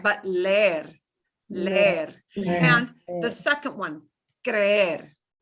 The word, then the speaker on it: leer: Leer. Leer. If it only had 1 E, it would sound like leer.